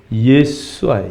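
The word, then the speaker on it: ישוע: 때문에 원래 예수라는 단어는 영어의 단어죠 그럼 원래는 예수와 예수와 히브리어로 말하면 근데 그 단어를 우리는 이게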